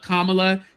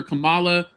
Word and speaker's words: Kamala: it was going because he never called Kamla Kamala. He calls her Camala.